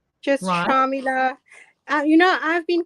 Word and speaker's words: Shamela: get it wrong so am i pronouncing it right sharmila shamila whatever it doesn't matter my father calls me sharmila so that's probably how it's supposed to be said yep but uh i'm